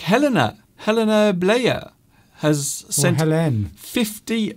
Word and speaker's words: Helen: So thank you very much, Helena, for that.